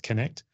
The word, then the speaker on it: Knkt: agency called connect if you're wondering how to pronounce k n KT it's connect connect digital uh we created connect because we wanted